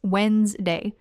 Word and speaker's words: Wednesday: Or more naturally, just Wednesday. The D after D is almost completely silent, and the middle section gets squished together.